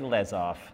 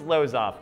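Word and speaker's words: Losev: inventor and scientist Oleg leof I think that's how you pronounce name nope it's Lo off let's go with it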